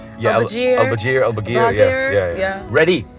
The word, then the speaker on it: Elbagir: I'm like, it's like, you know, Al-Bagir, you have to. Yeah, Elbagir.